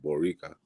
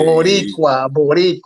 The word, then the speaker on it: Boricua: Is he saying Boricua? Yeah, Borica. I don't know how to say it like that. Dude. Yeah, Boricua. All right, damn.